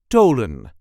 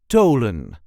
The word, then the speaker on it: Tholen: Tholen. There is a light emphasis on the first syllable. Tholen. THO-LEN. Tholen. So, for our English speakers, the TH is pronounced as a hard T, not the English TH or the.